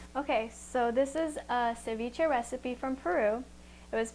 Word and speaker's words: ceviche: I, being American, said ceviche, but I saw that the correct pronunciation is Ceviche.